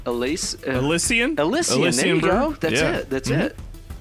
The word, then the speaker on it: Elysian: Elysian there you go.